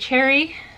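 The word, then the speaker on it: Cherryh: This next one is CJ Cherry. You guys told me to pronounce their name without the H, so that is what I'm doing.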